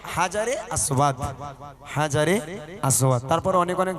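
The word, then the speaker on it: الحجر الأسود: ওটার নাম হচ্ছে হাজারে আসওয়াদ।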